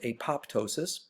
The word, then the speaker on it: apoptosis: now notice you look at acknowledge should be pronounced apoptosis many people do a lot of professional scientists